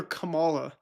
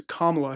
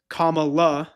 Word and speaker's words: Kamala: pretty critical of Trump, yet still called her Kamala. So I don't really understand where this guy sits on the political spectrum, because he blatantly mispronounced the vice president's name. It's Kamala Harris.